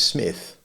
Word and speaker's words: Psmith: to you is is smith the p is silent and until very recently